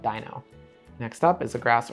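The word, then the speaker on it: Deino: it's Dino I know a lot of people argue about the pronunciation of this Pokemon but I think the joke or the pun only works if you call it Dino next up is a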